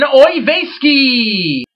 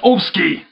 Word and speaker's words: Oyvaiski: Please welcome to our show from Santa Cruz, California, Ben Oyvaiski. Shalom and peace unto you, Yuki. By the way, it's pronounced Ovsky. Oh, sorry, Ben, because it's written here, Oyvaiski.